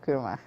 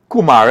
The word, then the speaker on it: kurma: So you can buy a book and you'll get a free pack of kurma. And only watch me. Watch me. They not Kumar, eh? They Kurma.